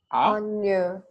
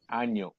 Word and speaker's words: Año: And the pronunciation of that alphabet is Año. Año.